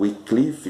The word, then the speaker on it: Wycliffe: Então, Wycliffe, ou Wycliffe, como alguns pronunciam, ele é um dos pré-reformadores.